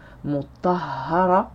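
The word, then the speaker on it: مطهرة: Donc le tanwin ne se prononce pas. Et ça donnera lors de la récitation mutahhara.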